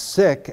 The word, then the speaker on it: SIC: we came up with another acronym called that you could pronounce sick s-i-c which stands for well